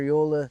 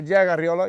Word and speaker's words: Arreola: Today we have Jaguar Arreola. How do you say that? Am I saying that right? Yeah, Jaguar Arreola. Yep, it's good. All right, with the R.